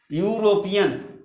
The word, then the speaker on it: European: अंग्रेजी की बात अगर हम करें तो इसका उच्चारण जब करेंगे हम तो ऐसे होगा, यूरोपियन।